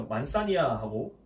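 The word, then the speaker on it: Manzanilla: 아까 앞에서 말했던 생물학적 숙성이냐 화학적 숙성이냐에 따라서 이 스타일이 구분이 되는데, 자 먼저 만사니아하고 피노, ILL 이거 야라고 읽는다 그랬죠. ILLA 야죠 야. 네, 만사니아라고 했습니다.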